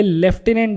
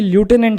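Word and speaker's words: lieutenant: officer ये एलटी को कभी-कभी लेफ्टिनेंट से प्रोनाउंस किया जाता है और कभी लूटने से प्रोनाउंस किया जाता है दोनों में कंफ्यूज ना होए ब्रिटिश इंग्लिश में लेफ्टिनेंट होता है और अमेरिकन इंग्लिश में लूटने प्र किया जाता है नेक्स्ट कॉप्स कॉप्स का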